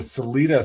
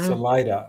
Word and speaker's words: Salida: Now, Colorado is also famous for the Salida sightings on August 27, 1995. Yep. Yeah. Yeah. I don't know a whole lot about what was going on in Salida, but I do know that they still have